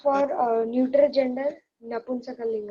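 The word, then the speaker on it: नपुंसकलिङ्गम्: down the spelling of Napunsakalingam, and please don't pronounce it as Napusakalingam. It is not Napusaka, it is Napunsaka.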